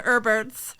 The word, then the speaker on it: Herbert: out to all the herberts spelled with a silent h all right what's a